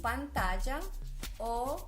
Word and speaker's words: pantalla: cable tiene un apantallamiento en la pronunciación de las dos él es al final de la palabra escuchamos pantalla pantalla natalia como diría un